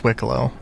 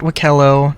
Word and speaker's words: Wiccolo: No, it's Wiccolo. They They explicitly said that it is Wiccolo. Not W not Wickello. Not Walo. Not Not uh Wicklo.